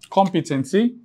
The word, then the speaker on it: competency: And this is the third to the last syllable, which is called the antepenultimate syllable. So, you have controversy. Controversy. Let's take the next word. competency.